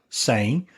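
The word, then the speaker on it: sem: knew enough Portuguese that I could pronounce the first word s e M saying but I didn't know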